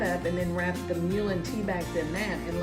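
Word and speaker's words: mullein: Well, when I had the flu a couple of months ago, Mulin, that's the way you pronounce it, my niece told me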